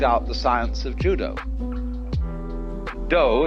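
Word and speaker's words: 道: the science of Judo doe is the way the Japanese pronounce Dao ju means gentle Judo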